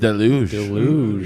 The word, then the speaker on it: Deluge: Deluj.